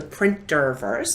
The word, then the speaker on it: Printerverse: the intergalactic ambassador to the printer verse there's an extra syllable and the printer verse